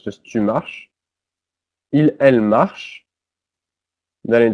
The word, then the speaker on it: marches: Notice that es is pronounced just like the e. The s is not pronounced, so it's just tu marches.